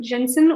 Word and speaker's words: Jensen: Last name Jensen with a English J.